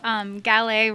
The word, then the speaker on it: Gallais: Yeah, I always tell people Gallais rhymes with ballet, like ballet dancing. The S at the end throws people off, so that's a good way to remember it.